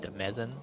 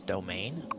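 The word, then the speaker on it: demesne: It's And you wanna it's spelled like Demezen, but it's domain, and you want to click that.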